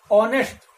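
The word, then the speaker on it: honest: यहां पर आप देख रहे हैं कि जो एच है इस एच का हम प्रोनाउंसिएशन नहीं कर रहे हैं, इसका उच्चारण नहीं कर रहे हैं।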